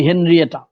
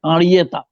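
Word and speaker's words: Henriette: দুই ভাইয়ের সাংঘাতিক মিল ছিল, এবং এই দুই ভাইকে নিয়েই তার মায়ের নাম আরিয়েতা, আমরা ইংরেজিতে বলি হেনরিয়েটা, ফরাসি উচ্চারণে হবে আরিয়েতা।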